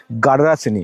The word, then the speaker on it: গাডরাসিনি: গাডরাসিনি। এটা কিন্তু মনে রাখতে আমাদের দাঁত ভেঙে যাচ্ছে। অনেক কিছু উচ্চারণ করেছি।